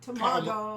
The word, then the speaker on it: tamago: used to make egg puns in both Japanese and English, but that was a long tamago.